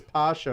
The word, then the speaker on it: basha: and ottoman empires weird you can also hear the word pronounced as pasha or pashawat having the title of